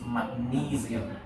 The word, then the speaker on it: magnesium: But in English it's magnesium. Magnesium.